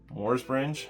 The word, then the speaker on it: Morsbringe: to get into it this is my friend mors bringe y pronounce it right I'm very impressed with myself